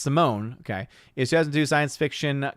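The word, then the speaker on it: S1m0ne: Harwick, Simon, pronounced Simone, okay, is 2002 science fiction comedy starring Al Pacino.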